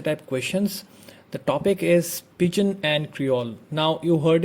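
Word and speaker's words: pidgin: The topic is Pigeon and Creole. Now you heard it right, I have not pronounced the word as Pidgen because it is pronounced as Pigeon and the other one is Creole.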